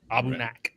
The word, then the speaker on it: Aberlour: Jonathan Herring corrected me on my pronunciation. Sounds right. Abunak.